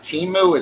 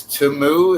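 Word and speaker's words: Temu: Oh, it's not Timu, it's Tumu.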